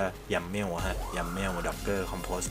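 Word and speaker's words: YAML: doger compost yml ฮะ ถ้า ออก เสียง ก็ ยำ เมว ฮะ yam doger compost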